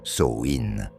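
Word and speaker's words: Samhain: Et si vous ne connaissez pas encore Samhein, prononcer Souin, c'est le moment parfait pour découvrir cette célébration ancestrale.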